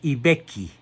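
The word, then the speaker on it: I Becchi: Nace pues el 16 de agosto de 815 en Ibecchi. Se escribe I, que significa el, Vecchio.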